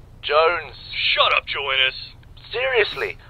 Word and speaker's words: Jones: Joe Innes. It's almost Christmas, though. Joe Innes, where the hell are you? Sir, for the millionth time, my name is pronounced Jones. Jones.